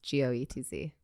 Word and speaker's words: Goetz: Goetz, Goetz. All right. Goetz is how I pronounce it, but okay.